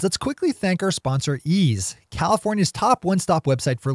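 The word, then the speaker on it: Eaze: Before we blitz out on headlines, let's quickly thank our sponsor, Ease, California's top one-stop website for legal marijuana delivery.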